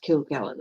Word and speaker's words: Kilgallen: is kilgallen okay yeah her name is pronounced kill gallon okay yeah oh yes